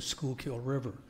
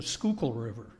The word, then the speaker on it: Schuylkill: told the Uber driver, take us to the Schuylkill River. And he said, oh, you mean the Schuylkill River. So that's how they pronounce it back there. And he took us to the Schuylkill River, a scenic spot of it, and we took